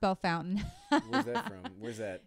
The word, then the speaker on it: Bellefontaine: to have been from why Jonathan Maxwell from belfontaine where's that what's actually pronounced Bellefontaine it is this itself so it's I think